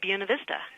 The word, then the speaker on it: Buena Vista: Chamber of Commerce I prefer that people say buena vista and i'll say that because it was chosen